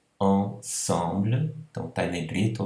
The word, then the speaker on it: ensemble: Aqui, ensemble, não é? Mas o problema aqui é que ele é precedido de uma outra vogal, I. Então aí, por conta dessa precedência, o som não é mais pronunciado como on, mas como an.